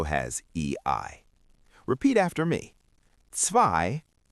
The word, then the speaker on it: zwei: When you see the letters E-I together, they make the sound I. So, E-I is pronounced like the long I sound. Zwei, which means two, has E-I.